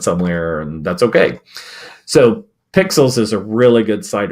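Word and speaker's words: Pexels: It sounds like Pixels, but they spell it with an E.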